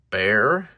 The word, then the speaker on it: Bexar: So price goes to the Bear. It's pronounced Bear, but it's spelled with an X.